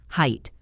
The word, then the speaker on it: height: Now, height, height. Remember, no TH at the end, just height. Rhymes with kite, bite, quite, right, night, light. All those words end in the same sound, height.